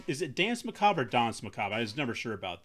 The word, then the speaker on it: Danse Macabre: I guess properly it would be Dons Macob. uh if we're going real real French with it.